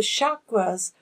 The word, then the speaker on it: chakra: well-being these are called chakras that's a sanskrit word meaning wheel or lotus sometimes it's pronounced with the hard c as in chakra but